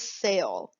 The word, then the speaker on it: cell: This word, your C is followed by the E, so it's going to say S. It's that soft C. This word is cell.